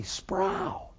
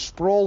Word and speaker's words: Sproul: and I thought whoa when somebody calls me Sprout it's like somebody taking their fingernails on a cockboard you know goes up and down my spine and I say people call me sprowl I growl my name is Sproul it rhymes with soul is that hard to